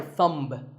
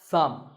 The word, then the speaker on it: thumb: the way what's this this is my thumb it's not my thumb it's pronounced thumb and uh what about